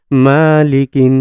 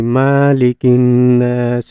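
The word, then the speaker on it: مَلِكِ: এরকম পরের আয়াতে যাই মালিকিন হরকতের উচ্চারণ দ্রুতরম মালিকিন আমরা অনেকে এরকম পড়ি মালিকিন যদি মা টানি তাহলে এখানে যদি একটা খালি আলিফ থাকতো তাইলে মালিকিন্নাস টানতে পারতাম কিন্তু সেটা তো নাই তাইলে এই মিম জবর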